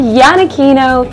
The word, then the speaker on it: Yanakino: my name is yanakino for those that have been watching my videos you may have seen my last name down here and throw it to yourself mystery stuff it's pronounced Yana Kino when I mentioned to